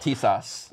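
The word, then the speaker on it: Tisas: And it's pronounced T-sauce.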